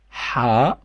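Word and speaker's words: حاء: It's a new one called ha, and it's not h, it's ha with a h. It's like when you cough, you say So ha is the letter, and we just spell it like h.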